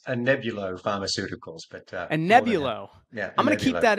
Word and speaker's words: Anebulo: me today is Simon Allen the CEO at anabo Pharmaceuticals did I say that right Simon it's not an easy one to pronounce an nebulo Pharmaceuticals but a nebulo I'm going to keep that in because I